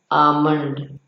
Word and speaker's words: almond: बादाम की इंग्लिश होती है ALMOND, लेकिन इसका प्रोनाउंसिएशन है आमंड। एल या ला का कहीं भी नामो निशान नहीं होना चाहिए हमारे उच्चारण में, आमंड।